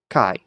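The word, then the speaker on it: καί: How's that diphthong pronounced? I. Kai.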